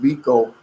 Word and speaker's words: Biko: You pronounced Biko correctly.